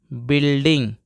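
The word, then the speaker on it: building: दोस्तों यहां देखते हैं बी यू आई एल डी आई एन जी दोस्तो पढ़ते हैं बिल्डिंग अगर आई से पहले कहीं यू आ जाए तो यह वाला यू साइलेंट होता है यानी कि इसको पढ़ेंगे बिल डिंग बिल्डिंग और बिल्डिंग का मतलब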